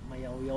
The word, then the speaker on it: Mayoyao: mayaw B nao sir oo mayya pala hindi mayya mayaw ba o Mayu yaw mayaw ang pronunciation eh ah mayaw oh